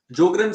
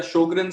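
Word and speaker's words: Sjögren: जोग्रेन syndrome या शोग्रेन syndrome जैसे इसको प्रोनाउंस करें, SJOREN, शोग्रेन सिंड्रोम, ये बीमारी भी जोड़ों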